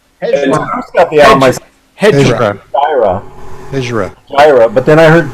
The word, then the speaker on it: Hejira: Well, it's 2 syllables. Who's got the album? Hejira. Hejira. But then I heard Joni say Hejira. Joni lies once again. She's wrong. But Jamie, I say Hejira.